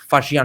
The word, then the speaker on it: Faxian: लिया, उसके बाद मैं फाहियन का खुद का बुक भी खरीदने वाला था. इट वाज to fucking costly. वहां पे मैंने स्पेलिंग पढ़ा कि FAXIAN, फाशियान और फाहियान.